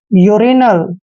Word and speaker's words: urinal: आई एक वोवल है, इसलिए हम इसको यू को यू ही पढ़ेंगे, URINAL, यानी कि यू का उच्चारण यू ही करेंगे, यूरिनल, यूरिनल।